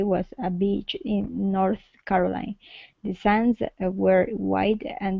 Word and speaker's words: Carolina: Make sure to pronounce this A at the end. Carolina. Carolina.